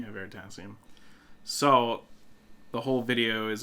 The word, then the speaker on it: Veritasium: Veritasium? Yeah, Veritasium.